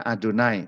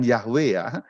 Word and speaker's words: YHWH: Youth heboh Hei yhwh dibacanya adonai bukan Yahweh dibacanya bukan yahwe tetapi adonai juga bukan yehuwah jadi Yahweh yitu bikin-bikin itu cara seperti itu karena orang Israel aslinya membaca adonai jadi rubah adonai tertulisnya